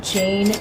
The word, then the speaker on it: Jane: At number 4, we have Jane Eyre.